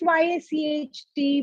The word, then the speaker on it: yacht: we all know y is cht but it's pronounced y a c h t but i mean it's currently it's healthy chd